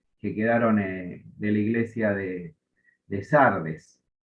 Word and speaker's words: Sardes: caso la iglesia de Sardis o Sardes, que sería la forma correcta de pronunciarle.